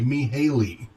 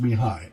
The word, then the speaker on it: Mihály: I H a ly so it looks like me Haley but it's pronounced me hi mih a ly Csikszentmihalyi